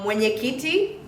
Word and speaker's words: mwenyekiti: So the mwe, this is one syllable.